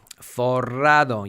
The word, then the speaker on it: forrado: Forrado. You have to get the old R, the two R's working if you want to pronounce this word correctly, meaning that you are loaded with cash.